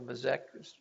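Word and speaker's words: Bazex: It's B-A-Z-E-X, so Bazek, we say, but probably not the right pronunciation.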